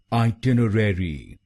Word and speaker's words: itinerary: आइ टिनर आइ टिनर और इसमें आपको दूसरे शब्दांश पर यानी टी आई एन और चौथे शब्दांश पर यानी आर ई आर पर जोर डालना है आइ टनर आइ टनरीडिंग